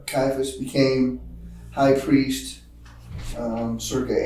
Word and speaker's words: Caiaphas: How do you pronounce that? Caiaphas.